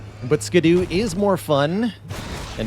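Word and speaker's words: Scadu: is Old English for shadow so it I think ideally meant to be pronounced Shadow just like Gail is pronounced jail but skadoo is more fun and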